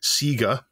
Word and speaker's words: Sega: Local has submitted a story of a cancelled Sega, as it's pronounced correctly, and Jackson tie-in, Scramble Training.